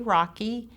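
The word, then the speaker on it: Rachui: Thank You Les okay my name is Rocky that is spelled r a c h UI I'm the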